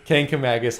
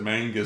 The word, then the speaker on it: Kancamagus: how to pronounce that there's no n in it and so he just messed it up again he just said Mangus yeah I see Mangus